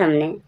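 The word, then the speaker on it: hymn: कहां कैसे है आप देखो हिम हिम एम मीन्स भजन। एम के बाद जब एन आया है। एम के बाद जब एन आए तो एन साइलेंट रहेगा। एन का साउंड नहीं आएगा।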